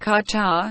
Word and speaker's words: ka ca: Ka-ca, pronounced ka-cha, and is SFX for chopping sound.